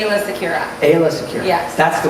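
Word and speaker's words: Aayla Secura: talking about Han Hans and different ways to pronounce it so aa aa how do you say I say AA Sakira AA Sakira yes that's the way I'm going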